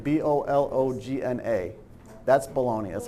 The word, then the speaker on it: Bologna: Like how you spell it, like how you eat it. Baloney. Yes. That's bologna.